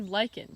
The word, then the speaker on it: lichen: liking already it's actually lichen so even though it's spelled kind of weird and it might look like it's pronounced like kitchen it's actually like actually